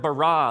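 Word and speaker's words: בָּרָא: now the word for create is the word bara let me hear you say bra with this forceful energetic word of making things out of nothing in the beginning Elohim barad the heavens and the earth now the earth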